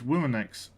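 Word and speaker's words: womxn: or sanitary towel well it's pronounced woman it's still pronounced the same it's just they put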